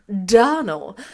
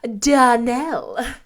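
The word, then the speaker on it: Donnell: you pronounced our name Donald now Miss Shirley the correct pronunciation of our name is DaNell Accent on the last syllable I hope you'll remember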